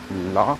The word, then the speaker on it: Lac: Now, Lake Geneva is actually called Lac Léman, pronounced as LAC, for Lac is lake, Léman is pronounced as LEMAN.